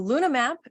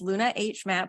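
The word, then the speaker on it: LunaH-Map: Yeah, so LunaMap is the H is silent. It's Luna H map, but the H is silent because we're looking for it.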